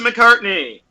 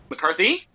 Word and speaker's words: McCarthy: said Kristen Wiig Melissa McCartney hey yeah McCartney correct pronunciation McCarthy and I don't this